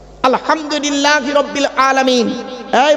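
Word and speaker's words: الحمد لله: একটু কথা বলুন না আলহামদুলিল্লাহি রাব্বিল আলামিন। এই মা বোনেরা ভালো করে শুনে নিন। আলহামদু এ গলার ভেতর থেকে হেটা উচ্চারণ করবেন।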